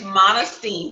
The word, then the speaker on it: Monestime: Sure, it's Monestime, so it rhymes with Regine.